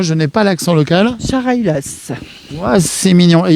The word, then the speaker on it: Chareylasses: Je vous laisse le prononcer parce que moi je n'ai pas l'accent local. Charailas.